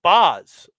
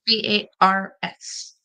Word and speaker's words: Bars: The Boz.